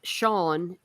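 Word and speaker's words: Seán: If you are an Irish speaker, in Irish, Sean, which means John, is S ifada an. It's the fada that makes a difference. But I understand what you're saying. But that's why it's pronounced differently.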